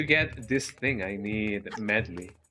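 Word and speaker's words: Medli: How how is her name pronounced? Medley or Meduli. I have I have been calling her Medi but uh I don't know if it is Meduli or Medley Medley or Medi. What are what is the standard pro procedure here? The standard procedure you give me medlay. Oh, way different that what I've been pronouncing her name actually.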